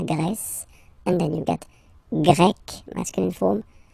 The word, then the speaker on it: Grec: So you get the country, la Grèce, and then you get Grec, masculine form, Grec, feminine form. You write them differently, but then if you listen carefully, Grec, Grec, you pronounce them the same way, okay?